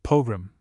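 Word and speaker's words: pogrom: Footnote one, pilgrim, with the accent on the last syllable signifies ruin, devastation, and was originally applied to the ravages of an invading army.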